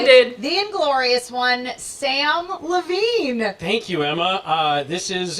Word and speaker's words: Levine: I said to the crowd, my name is Samm Levine, not Samm Slavine.